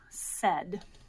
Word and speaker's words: said: end yep a d that e sound in the middle how would you expect that to be spelled with an e okay that would make total sense really good idea in this word though the e sound is spelled by an A and an I together and that's not usually